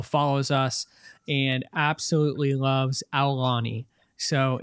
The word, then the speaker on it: Aulani: Like I'm supposed to make sure the U is in there? Ow. Ow. Ow. Like you're stepping on a Lego. Aulani.